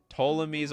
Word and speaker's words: Ptolemy's: So the P is silent. I completely agree with you. Ptolemy's Orrery.